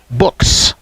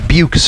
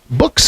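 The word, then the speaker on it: Buchs: I think I said buches earlier b-u-c-h-s so I've heard some people pronounce it books and some say buches and apparently his family says books so it is books there you go yeah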